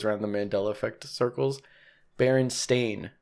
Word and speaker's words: Berenstain: bernstein bernstein e-i-n yeah but it's baron stain so is it that